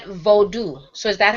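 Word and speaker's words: Vodou: I noticed you said Vodu.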